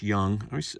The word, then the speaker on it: Jung: Josh Jung Sapphire Josh Young the J always S I know it's young but I see that J